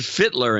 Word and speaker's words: Fittler: Robert Fittler in Mars, Pennsylvania, rhymes with Hitler.